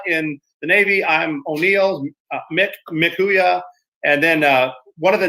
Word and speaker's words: Mchooyah: And that's a funny story because that's pronounced Mikuya.